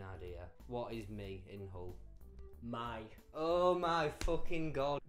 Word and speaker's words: Hull: We don't pronounce H. Like, if I say Hull, it just sounds like Hull. Yeah. But other people go Hull, but it's Hull.